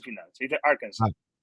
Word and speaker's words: Arkansas: Se dice Arkansas. Arkansas. Sin la S final, sí. Vale, No me preguntes el por qué. Yo he aprendido a pronunciarlo así porque cuando decía Arkansas no me entendía.